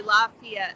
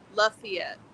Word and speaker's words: Lafayette: here called Lafayette and I laugh when Outsiders say it they say say Lafayette like El H El and hub's name we say it the way it's spelled lafette rednecks at their finest La